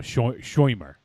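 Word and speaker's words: Shomer: So I wasn't familiar with the concept of as they mentioned in the film, a shoimer.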